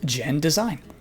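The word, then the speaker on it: genDESIGN: not very good The Last Guardian studio is pronounced gen design Paladin Studios developed good job Nintendo is simply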